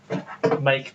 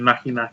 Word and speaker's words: Make: But they're all the stuff from Make, not fucking Mackie. It's Mackie. It's not. It's Make. It's Mackie. It's spelled differently. It's Mackie. It's Mackie is Mackie is MAKI. Yeah. And this is spelled MAKE. Yeah. Like make. I'm guessing it's make for fuck's sake.